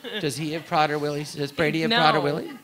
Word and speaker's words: Prader-Willi: Prader-Willi syndrome. And then So- Prader-Willi syndrome.